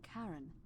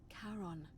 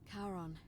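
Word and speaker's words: Charon: is a little off the name you heard wasn't karen it was c-h-a-r-o-n as in caron the ferryman of the dead karon who in exchange for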